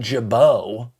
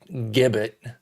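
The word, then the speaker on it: Gibaut: the sixth and then Ian Jabo not gibbet as some people want to say he's he's a Frenchman actually I don't know if he's from France but it's you know fren French pronunciation there gets absolutely destroyed two-thirds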